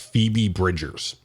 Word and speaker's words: Phoebe Bridgers: on SNL Saturday Night Live um and it's pronounced Phoebe Bridgers and yeah well I've never i' never heard